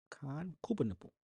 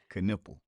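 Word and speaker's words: Knueppel: Koopa nipple. I didn't say it right. No. What is it? Caniple. K.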